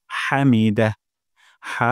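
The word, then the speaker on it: حمده: আল্লাহু তারপর লিমান লিমান হামিদা হা গলার মাঝখান থেকে হামিদা হবে না হামিদাহ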